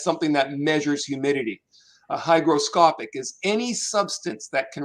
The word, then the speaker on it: hygroscopic: have heard of before the word is called hygroscopic hygroscopic now the it is spelt h y g is in george r